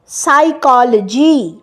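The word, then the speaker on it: psychology: Next হচ্ছে সাইকোলজি, এটা একটা সাবজেক্ট, সাইকোলজি মানসিকতা, এটাও পি দিয়ে আরম্ভ হচ্ছে, কিন্তু পিটা প্রোনাউন্সড হচ্ছে না।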